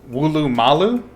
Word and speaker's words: Woolloomooloo: Oh, Wooloomalu? Really? That's not how you spelled it originally, or is it just pronounced that way?